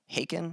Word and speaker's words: Haken: think someone mentioned uh haken i think that's how you pronounce them h-a-k-e-n um i think that's how you pronounce your band name and i had checked